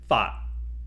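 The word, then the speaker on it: 發: To make a fortune is fat in Cantonese.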